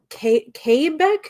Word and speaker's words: Quebec: apparently uh the w sound does not exist in french words so oh it's quebec